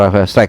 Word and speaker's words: Struick: bukan di sana ada Rafael Strick ya Rafael Strick atau Rafael Strike bacanya seperti itu ya yang akan menghadapi Per